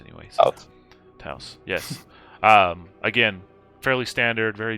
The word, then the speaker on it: Taos: nondescript black car, a brand new 2022 Volkswagen Taos? I don't know how you pronounce car names anyways. Taos, yes.